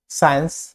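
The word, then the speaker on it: science: সাইলেন্ট সি, এসসি থাকলে বেশিরভাগ সি সাইলেন্ট, এসসি থাকলে বেশিরভাগ সি হয় সাইলেন্ট, যেমন সিন সিন সায়েন্স muscle muscle.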